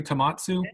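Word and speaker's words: Tohmatsu: Did I pronounce that correctly? Tomatsu?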